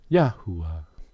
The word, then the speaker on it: YAHUAH: YAHUAH. Or 2 U's with a W-A-H at the end. YAHUAH. 2 different spellings. Matter of fact, 3 different spellings. But the same phonetic pronunciation.